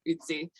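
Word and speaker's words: Ötzi: I think Otzi. like he's like the yeah. Yeah, I'm saying because it's got the umlaut over the O, so I'm pronouncing it a little different. But yeah, Utsi.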